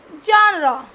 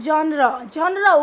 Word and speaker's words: genre: The first one इज द genre. genre, don't pronounce it as genre. this is not genre, it's genre.